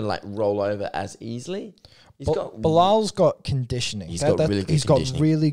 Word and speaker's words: Belal: Belal Muhammad.